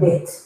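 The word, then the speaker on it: ב: What happens if I take the Daghesh out? The pronunciation now is going to be V. So fricative, you keep on saying V.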